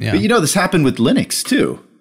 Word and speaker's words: Linux: internet, probably even today, of Torvalds saying, hi, I am Linus Torvalds, I pronounce Linux. Hello, this is Linus Torvalds, and I pronounce Linux as Linux. That's the whole wave file. Just to kind of set the record straight. Set the record Nowadays, straight. I think everybody knows, that it's just Linux.